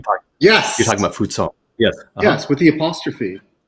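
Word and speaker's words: Fou Ts'ong: Yes, that's the old romanization, which means it's pronounced unvoiced.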